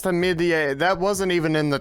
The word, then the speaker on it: Hamidian: Apparently, it's pronounced Hamidian. Hamidian. It's pronounced Hamidian.